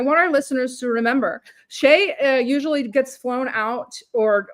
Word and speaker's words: Chay: She's our good friend or Sheay if you pronounce it correctly.